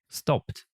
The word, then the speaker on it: stopped: The letter E in ED is not usually pronounced, and ED is pronounced like D or T. For example, closed, stopped. Хотя очень хочется это все